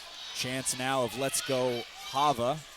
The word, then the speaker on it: Ha'va: now of let's go Hava or Hava I believe is how it is correctly pronounced according to him breaks the guard of